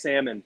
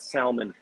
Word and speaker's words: salmon: the l if you if you pronounce the l in salmon so help me king george it is silent it's salmon not salmon dude it's magical but